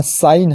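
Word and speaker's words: sign: rule number छवा है यदि किसी शब्द में एन से पहले जी आए तो जी साइलेंट रहता है य साइन है एन से पहले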